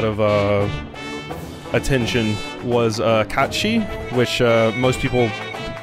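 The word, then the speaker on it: Cait Sith: other characters say it they just called him Kate Sith because that was the one that people used for a long time and a lot of people were like it's actually catchi and yeah I usually call it catchi just uh out of respect to Irish so I'm here through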